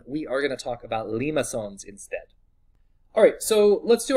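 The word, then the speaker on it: limaçon: a word a lot and that word is Lima son this is how you spell it it's Etsy is a little got a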